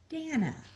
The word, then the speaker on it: Dana: Dana, everyone listening, you have to understand her name is not Dana, it is Dana.